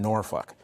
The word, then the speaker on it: Norfolk: He was in Norfolk, which has a very large veteran population, but also African-American population. That's how you pronounce it.